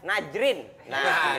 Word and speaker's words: Najrin: Nazreen. Nazreen. Iya, pronunciation-nya harus oke. Nazreen. Nazreen. Kalau di Indonesia, Najrin. Nesi Najrin. N-A-J-R-I-N. Iya, Najrin.